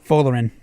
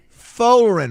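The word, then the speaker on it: Folarin: How do you pronounce the first name? Folerin. Folerin, Raj.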